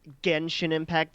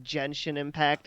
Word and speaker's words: Genshin Impact: the mobile game award AC mispronounced genshin impact as gensin impact and it was trending